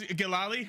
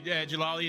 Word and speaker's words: Jamandi: it said oh wait it says galali I kept saying galali like whenever we're talking about it it's great that's her name in French Canadian yes it's exactly jalali is how you say